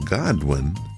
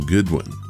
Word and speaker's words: Godwin: mistake in episode 329 I incorrectly called author Tom Godwin as Tom Goodwin I did this several